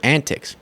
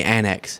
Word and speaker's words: antics: she pronounces the word antics no I'm not going to go there today I'm not why does she say Annex every time she's trying to say antic I I don't find